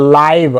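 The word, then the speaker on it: live: तो वहाँ पे आई को आई पढ़ते हैं, तो इसकी वजह से इसको आई ही पढ़ेंगे, लाइव, और ये खुद साइलेंस हो जाता है ना, इसको उच्चारण नहीं करेंगे।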